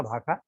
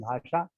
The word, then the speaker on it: भाखा: है, अवधि में चाखा भाखा, लेकिन भाखा को शुद्ध करके लोग पढ़ देते हैं भाषा, तो वो फिर तुकांत नहीं रह जाए।